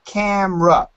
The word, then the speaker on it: camera: to practice camo rock actually in america we usually just use two syllables and we say camera camera camera perfect photographer photographer very